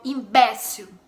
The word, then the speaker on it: imbécil: E em espanhol, imbécil, imbécil. A sílaba tônica no caso aí é no E, BE.